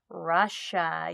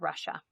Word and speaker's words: Russia: was so weird that you hear a sh sound but it's not spelled with a sh names break the rules tigers live in asia and russia i think our second